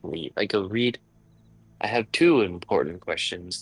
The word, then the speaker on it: Read: It's It's read. Reed.